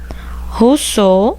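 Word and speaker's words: Rousseau: vou colocar aqui ó Russo se escreve rosseau o ok com mais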